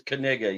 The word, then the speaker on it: Kaniga: His real name is Kaniga. You pronounce the K. It is not silent because he doesn't want to get killed.